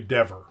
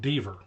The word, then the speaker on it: Deaver: I always just thought Deaver. Rhymes with beaver. Rhymes with meaver. But apparently it rhymes with never, endeavor, and sever, and chever.